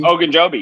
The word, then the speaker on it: Ogunjobi: And I can't even pronounce his name. What's his name? Ogunjobi? Ogunjobi, yeah.